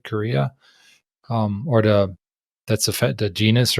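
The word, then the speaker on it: Carya: we didn't really talk about that, but it's Korea. Is that how you say it? Right, Korea.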